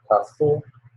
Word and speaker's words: castle: the bridge and the castle. Yeah, I think it's the castle. The what? What is the last one? Castle? Castle. You Yeah, don't pronounce the T. It's castle.